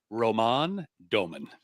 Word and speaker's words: Roman Doman: Just for our pronunciation folks out there, it's Roman Doman. It took me 4 months to get that nailed down.